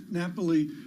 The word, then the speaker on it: Napoli: Is that how you pronounce it? Yeah. Napoli.